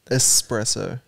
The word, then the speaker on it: espresso: supposed to say it espresso s it's not an x there is an x